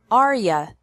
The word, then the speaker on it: are you: do you like spaghetti are you sounds like Arya are you at work